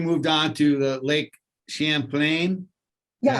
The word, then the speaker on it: Champlain: So now you moved on to the Lake Champlain.